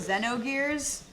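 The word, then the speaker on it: Xenogears: the Xenoblade people so canonically Xeno gears even though I call it that it's supposed to be pronounced Zeno gears like canonically oh I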